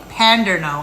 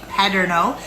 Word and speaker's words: Paderno: I'm also using my paderno pants I'm not saying pandero I'm saying pno maybe I have an